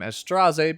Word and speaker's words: Straze: be pronouncing his name estrase because that's how the characters in the game pronounce his name he was like a